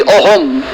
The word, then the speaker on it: Axom: Interestingly, हाँ, Assamese जब असम लिखते हैं तब करेक्ट स्पेलिंग है AXOM, ओके, एक्चुअली ओहम।